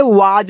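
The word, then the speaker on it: was: तो once there W ए एस इसे वाज पढ़ते हैं। तो इस तरीके से वाज ए को पढ़ते हैं अ तो वंस देयर वाज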